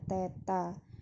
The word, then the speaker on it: theta: untuk dimensinya itu adalah theta ini bacanya Teta Bukan nol Straight ya ini Teta Jadi kalau bedanya kalau